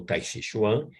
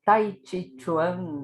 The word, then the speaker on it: Tai Chi Chuan: O Tai Chi Chuan, ou Tai Chi Chuan, na pronúncia chinesa, é uma prática das artes marciais.